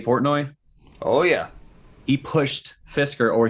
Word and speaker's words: Fisker: oh yeah he pushed fisker or he couldn't even pronunciate it he called it fistler investors into this he